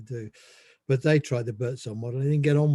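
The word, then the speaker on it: Buurtzorg: It's spelt peculiarly. It's BWRTZORG, Birdsong.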